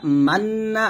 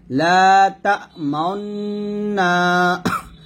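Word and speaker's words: تَأْمَنَّا: করাকে ইসমাম বলে অর্থাৎ এখানে আমরা দুই ঠোঁট মিলিয়ে একটা পেশের একটু ইঙ্গিত করব লাতা মাননা আছে এখানে মান বলা যাবে না বলতে হবে লা তাওনা মাউন মাউন এরকম অর্থাৎ ঠোঁট গোল করে যে উচ্চারণটা আসবে সেটাই সঠিক এখানে মান্না বলা যাবে না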